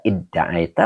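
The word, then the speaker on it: ادعيت: Nah ini dibaca idda'aita, wazannya ifta'ala ya. Jadi ini mazid dua. Ya, cuman taknya gugur. Jadi dibacanya idda'aita. Ya gitu.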